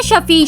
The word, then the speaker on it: Shafi: वैसे तो सारा कुरान पाक रहमत और शिफा है।